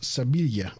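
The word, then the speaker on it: Sevilla: to uh so you know sevil is actually pronounced seila but sevil in Spain uh this is really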